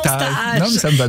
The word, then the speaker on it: Taaj: Et alors le mot Taaj, que je prononce Taaj.